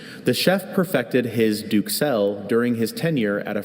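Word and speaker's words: duxelles: I have a few pronunciations. Duxelle, Duxelle, Duxelle, Duxelle, Duxelle.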